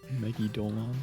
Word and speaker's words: Megidolaon: It's phonetically read. Megidolon.